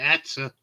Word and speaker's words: Hertha: But she was called, she pronounced it Etta. And we used to call her Etta, but it was Hertha, Eartha or whatever. But she said it's Etta, it's pronounced it, so I went, all